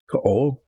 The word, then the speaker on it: Kaol: Um, Kaol, two syllables, Kaol.